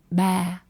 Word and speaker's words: ba: And dad is ba. Ba. Very neutral tone.